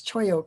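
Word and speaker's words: cholla: And you notice the LL, if you're not familiar with the Spanish, is pronounced as a Y. So it's choyo cactus.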